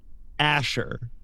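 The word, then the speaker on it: Ashur: Nick and say dumb, it is pronounced the way I would pronounce the name Asher like that that you just I I know children named Asher in America like Yeah. Yeah. Yeah. It's pronounced the same way, but we're doing some fantasy spelling nonsense.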